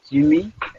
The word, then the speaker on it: Jigme: You can pronounce as Jimmy, like G with M-E.